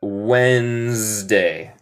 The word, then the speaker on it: Wednesday: Muy difícil de deletrear, pero se pronuncia Wednesday. Wednesday. Wednesday. No se dice Wednesday.